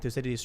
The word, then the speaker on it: Thucydides: Oh, I heard it's Thucydides is how you pronounce his name. Thucydides, isn't it? I think it's Thucydides in Greek. Interesting. That makes sense because they don't have the C.